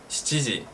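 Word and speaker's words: 七時: Pero se escucha mucho más shichiji, shichiji. ¿Nanji ni aimasu ka? Shichiji ni aimashou. Shichiji desu. ¿Ima wa nanji desu ka? Shichiji desu. Practica esta pronunciación porque es difícil, ¿eh? Shi, chi, ji, desu.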